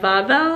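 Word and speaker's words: Wawel: went to the castle it's called the vavel I think it's w-a-w-e-l so I think that's what it would be that might be the German pronunciation for it but it's where all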